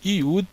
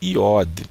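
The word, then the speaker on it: י: Então aqui nós temos a letra Vav com som de V como em vida, e nós temos a letra Iud ou Iod, tá? As duas pronúncias estão corretas.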